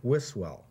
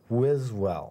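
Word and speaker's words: Wiswell: i've said is william wisswell right right and it's pronounced with a z wiz well right i will never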